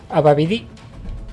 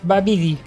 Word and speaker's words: Babidi: Ababidi... Ay, que no lleva tilde. Es Babidi.